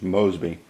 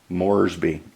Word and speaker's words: Moresby: is it ripple no it's port moresby rabul's over here on the island so it's port port mosby moresby to say it right so that was a